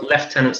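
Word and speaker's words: lieutenant: first left tenants so well left tenants the right way to say it um moving on moving on uh well In fairness we are English so we will say Li tenant you can say whatever you want uh the three 45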